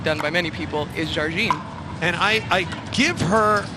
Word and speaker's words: Jardim: And you're telling me it's appropriately pronounced Jarine. Correct. She is from Brazil. And the the correct pronunciation often improperly done by many people is Jarine.